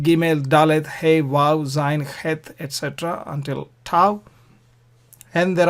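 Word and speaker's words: ח: Het, in Scotland, there are lakes called lochs, Loch Lomond. They have loch. So Bach, loch. So that sound is het.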